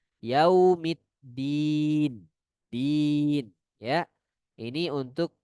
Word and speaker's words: Yaumiddin: Sebagian membacanya dengan menekan huruf dalnya. Yaumiddin, din. Tidak, ya. Huruf dal tidak dengan cara menekan di dal, bukan. Melainkan lidah kita berada di belakang gigi seri atas. Yaumiddin, din, ya.